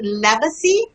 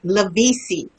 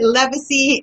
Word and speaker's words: Levisy: Well, my name is pronounced Leacy. L E V I S Y. And um for years I have I pronounced it wrong um because my foster family were telling me it's pronounced Levisi, but when I met my mom um when